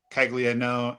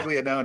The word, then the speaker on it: Caglianone: It's spelled Caglianone, but it's pronounced Caglianone. No, Caglianone, but it's Yeah. Caglianone is how you say it.